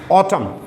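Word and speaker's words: autumn: ऑटम, इसमें N silent होता है, ये ब्रिटिश इंग्लिश का वर्ड है।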